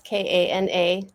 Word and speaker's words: Kana: That's Kana, rhymes with iguana.